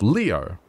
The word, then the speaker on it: Leo: venerable Leo a noi it is written with the kanji for lion to be sure but it's pronounced Leo I wager you're impressed